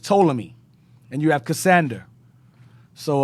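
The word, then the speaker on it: Ptolemy: you had SE Salukis you have uh toomi not pami it's just toomi and you have cassander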